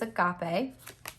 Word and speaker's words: agape: i pronounced it wrong so it is agape but we also have